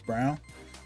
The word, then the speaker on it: Brown: performances from like Chris Brown or Braun how you round pronounce it but it's brown Philip Brown yeah that